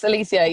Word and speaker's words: Elysia: And from your perspective, am I pronouncing this right, Elysia? Yes, Elysia. Yes, completely right.